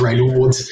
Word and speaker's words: Raynaud's: and Raynaud's and they may have pronounced Raynaud's because I'd answer French word right now it's rainy Ward's corrector on that from a French person and but you know